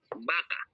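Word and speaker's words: vaca: okay and v sounds like B like baka baka with the V ano ko yung aking paint Y vaka means cow um we pronounce this as baka baka Same lang sila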